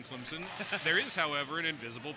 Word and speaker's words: Clemson: with an invisible P Clemson and you can tell if you're listening to sport casters if they say Clemson there is no Z in Clemson there is however an